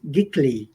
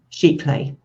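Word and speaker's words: giclée: Gickly? No, how do you pronounce it? sheet clay.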